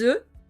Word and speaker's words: œufs: Aux œufs, attention ici à la prononciation, des œufs au pluriel mais un œuf au singulier.